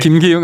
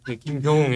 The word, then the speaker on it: 김교흥: 지금 국회 이제 정치위원장 발음 잘해 주셔야 돼요. 예. 김기용 아니고. 김교웅 예.